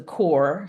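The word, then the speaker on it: Corps: with it it's a the working title is the core c r PS and we will probably changing that because you always have to spell it so people know that you're not saying c o r e and it's based on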